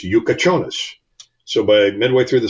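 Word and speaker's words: Jakučionis: Yakachonis. Yeah. And I have a tough time calling it Yakachonis because it's spelled way differently. And then I look at the phonetic pronunciation. It's Yukachonis.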